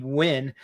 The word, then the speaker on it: Ween: And of course, the name win. Like you think it means win, like not lose, but it's actually pronounced like win, like Halloween.